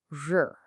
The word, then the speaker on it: 日: This character is pronounced R.